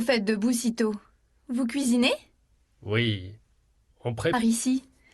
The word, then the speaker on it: cuisinez: Si tot, vous cuisinez. Ah, vous cuisinez? Vous cuisinez. Cuisinez. Vous Oui, cuisinez. exactement. Ok, très bien. Tu ne prononces pas la lettre Z, T.